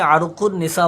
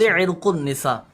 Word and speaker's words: عرق النساء: اچھا، ہمارے یہاں مشہور تو یہ ہے کہ عرق النساء بولتے ہیں. عرق النساء صحیح تلفظ عرق النساء.